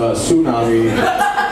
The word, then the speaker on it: tsunami: And some guy comes up and he's like, actually it's pronounced tsunami. The T is actually silent.